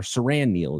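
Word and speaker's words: Siran Neal: And Saran Neil is uh or Saran Neil is how you pronounce it.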